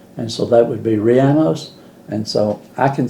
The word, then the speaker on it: rellenos: lady told me to pronounce it like piano, but say it with an R, and so that would be rellenos.